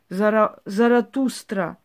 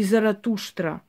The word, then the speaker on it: Заратуштра: Так и называется он вовести, поэтому его так и произносим, поскольку различные есть произношения. В любом случае зарастр называли его армяне и греки. Заратустра или Заратушра, в основном на востоке так звучит.